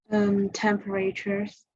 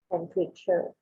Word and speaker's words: temperature: A syllable that we don't really say. We don't usually say temperature. We say temperature.